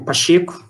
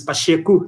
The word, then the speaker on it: Pacheco: Going back to today's session, I'm pleased to have Diego Pacheco. That's right. The correct Portuguese pronunciation of his last name is Pacheco, not Pacheco, which is Spanish.